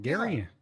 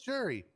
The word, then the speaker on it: Jerry: name again oh again is it gary no it's jerry but one of the